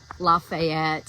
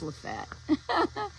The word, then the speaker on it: Lafayette: So we would say Lafayette and it's not. It's Lfette and like Lewisville.